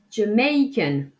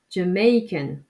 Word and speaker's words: Jamaican: Jamaica, Jamaica, Jamaican. Donc attention, j'insiste bien sur la deuxième syllabe. Jamaican, Jamaica, Jamaican.